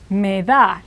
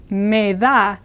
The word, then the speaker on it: me da: So you have to say something more like me da. Now this is pronounced similar to the word may, but shorter E sound. And the D is like the TH of brother. So these two words, me da, literally mean to me you give.